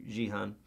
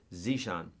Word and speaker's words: Zishan: Yeah, so it should work for you, Jihan, or Zishan. I'm sorry, I mispronounced your name, buddy. Zishan.